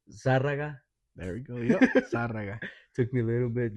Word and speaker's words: Zarraga: Zarraga. Took me a little bit just to pronounce it correctly.